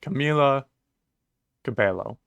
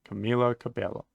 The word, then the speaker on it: Camila Cabello: I don't want to just say whatever to pronouncing someone's name right okay Camila Cabello Camila Cabello gotcha um but we've got we've got Camilo